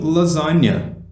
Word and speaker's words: lasagna: E aí depois ele continua, Oh, I love making lasagna. Ou, eu amo fazer lasanha. Que a pronúncia é bem próxima de português, tá? Lasagna.